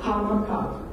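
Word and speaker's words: 'Aha Makav: We're not really Mojave. That's a Spanish name because they couldn't pronounce our name. So Hamakav.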